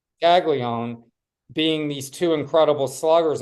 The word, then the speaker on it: Caglione: Caglione. Caglione being these two incredible sluggers on campus at the same time.